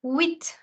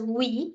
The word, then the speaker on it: huit: 8 in French is called huit. The H is silent and the T is sounded. Instead of pronouncing it as oui, you're going to say it as huit.